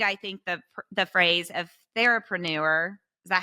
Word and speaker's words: therapreneur: you have coined, I think the phrase of therapreneur. Is that how you Yes.